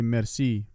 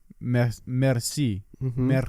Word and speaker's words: merci: think i could say merci pretty good and she's like say it again i like merci like rolling the r right it's like you can't roll your r's i was like yeah